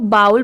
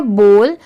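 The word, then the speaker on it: bowl: हैं फोक है बॉल अब इसे बहुत सारे लोग बाउल प्रोनाउंस करते हैं बट नहीं इसकी करेक्ट प्रोनंसिएशन है बॉल बी O double L बोल यह है नैपकिन एन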